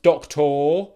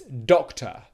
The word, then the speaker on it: doctor: doctor doctor doctor okay it's spelt with an O R at the end but it's not pronounced doctor or doctor it's doctor doctor doctor okay so